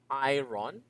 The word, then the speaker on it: iron: I think I already told you before. It's not iron. It's iron. Okay. Teacher, it's spelled as IRON. I know. But again, most of the words cannot actually be fully dependent on how it is spelled. So basically, all you have to do is to find out how it is being pronounced. In this case, this is not iron. This is like this. Long a, yorn.